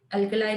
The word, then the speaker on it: alkali: अल्कलाई भी होता है उसका प्रोनाउंसिएशन, बट थोड़ा, चलो ठीक है उतना कर ले। और ये जो है अल्कली अर्थ मेटल्स, मैं जनरली अल्कली बोलती हूँ, अल्कली अर्थ मेटल्स।